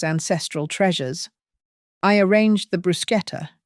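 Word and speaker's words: bruschetta: I arranged the brusqueta, which she'd pronounce brush eta at least three times on camera, and carried them out as directed.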